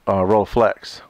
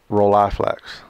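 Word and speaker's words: Rolleiflex: at the same time I roller Flex or roll eylex not sure I've heard it pronounced both ways on the back of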